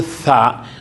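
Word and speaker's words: ث: Itong tha nilalabas 'yung dila. Sabihin mo tha. Hindi ka hindi ka makakapag-pronounce ng tha ng magsabi ka ng hindi mo nilabas ang dila mo. Kailangan iganan mo yan muna ganyan. Tapos tha ano tha. Hindi yung sabi mo tha. Hindi makukuha yung pronunciation niya. Tha tulad nung word halimbawa na both. Sa english both.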